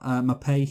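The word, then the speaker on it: Maupay: And then we got Mapei, who's a Brighton player, and name rhymes with I'm gay.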